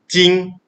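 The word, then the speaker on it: 今: present moment or now this character is pronounced jing or you can say like now or today okay and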